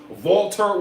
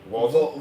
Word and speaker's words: Walter: Volter was over like Rover. Volter. Water? Walter. Walter? Walter. Yes, Walter. Walter. I know It's not Walter? No, it's spelled Walter, but it's Volter.